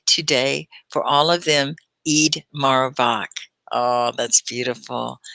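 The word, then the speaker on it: Eid Mubarak: for all of them eid marabak oh that's beautiful did i say it correctly eid marabak i think you have to roll the r i'm going to pin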